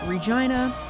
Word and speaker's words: Regina: the way this City's name Regina sounds like vagina someone told me you